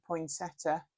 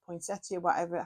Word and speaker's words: poinsettia: my parents buy me a poinsettia or poinsettia, however you want to pronounce it, and this has become a tradition every year.